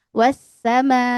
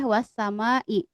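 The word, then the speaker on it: والسماء: Kalau kita karena pemula misalkan kita dengan ketukan tangan ya, wasamai ya. Jadi enggak boleh wassamai atau cuma dua harakat enggak bisa ya.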